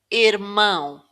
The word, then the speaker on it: irmão: The tilde makes the vowel nasal. Now, you can think of this like a flattened N. Mm. Mm. So, let's see how this word sounds here. irmão irmão são são